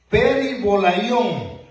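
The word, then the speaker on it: περιβόλαιον: de Corintios, capítulo 11, es la palabra griega peribolaión, así se pronuncia, y quiere decir algo lanzado alrededor de uno: manto, velo y vestido.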